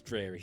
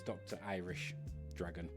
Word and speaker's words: DrIrishDragon: So for anybody that does read that and they think it's DrIrish, it's not. It's Dr. Irish Dragon.